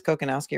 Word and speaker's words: Kokonowski: It is Kokonowski, right? I'm pronouncing it right? That's correct.